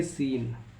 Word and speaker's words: scene: कब साइलेंट होता है, एस के बाद सी आता है तो सी को पढ़ा नहीं जाता है। तो जैसे एग्जांपल है SCENT इसे पढ़ेंगे सेंट, SCIENC इसे पढ़ेंगे साइंस, SCENE इसे पढ़ेंगे सीन। तो आई होप ये पॉइंट्स सबको क्लियर हुए हैं।